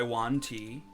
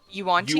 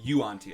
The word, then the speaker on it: Yuan-ti: How do you say it? Yuan-ti? Yuan. Oh, you say Yuan Ti. Okay, gotcha. Yuan-ti, yeah.